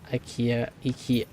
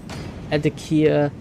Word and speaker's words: IKEA: Also, IKEA, pronounce the E in IKEA more.